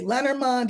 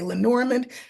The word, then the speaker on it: Lenormand: this ation tool so if we were in France we would say l because that's how they say it but here you can say lonand you can say Len norand you are not wrong however you okay well